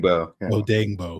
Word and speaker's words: Odeyingbo: Odeyingbo.